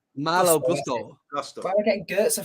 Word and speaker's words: Malo Gusto: Is it Goetze? No. What's it called? Malo Gusto.